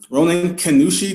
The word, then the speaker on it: Ronin Kannushi: gonna have a little chat his name is pronounce a Ronan Kushi did I pronounce that correctly yes okay sounds